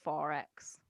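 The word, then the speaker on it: XXXX: Quadruple X. Yeah, you just call it 4X.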